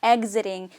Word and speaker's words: exiting: 그래서 exiting 발음이 exiting 이렇게 아주 톡 쏘는 그런 발음은 아니고요. 좀 부드럽게 exiting, 우리 계란 발음 exiting 이렇게 발음이 난다라고 보시면 돼요.